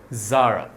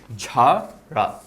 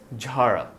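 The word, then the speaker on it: Zara: সো তারা এটাকে ভুল উচ্চারণ করে থাকে জারা। আমরা জারাকে জারা না বলে বলবো ঝারা। সো জেডটা হয়ে যাবে জে এইচ, আর এখানে এটা আমরা একটু নাক দিয়ে বলবো, সো ইট উইল বি ঝাড়া।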